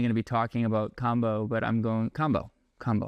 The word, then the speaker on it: Kambo: That is not how you say it. We go by how the tribes that that talk about it say it.